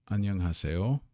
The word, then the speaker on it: 안녕하세요: Got that zero consonant in front here, the ah sound and the n sound at the bottom. An. Nyung. Now, there, notice that the zero consonant at the end of a syllable gets the ng sound. Nyung. An nyung. Ha se yo.